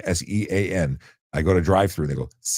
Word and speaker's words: Sean: I'm tired of being called Cian. Sean, Sean.